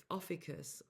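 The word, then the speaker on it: Ophiuchus: within us all within Officus. However people say officus differently. This is how I say it. This is how um I've learned how to say it.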